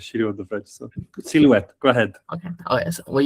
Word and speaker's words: silhouette: We use the Silhouette analysis to Silhouette, French people. Silhouette. Well, if there is a French word, it means that you can throw away 50% of the letters and the pronunciation doesn't change. Okay, think about croissant, or think about whatever. So just silhouette, yeah.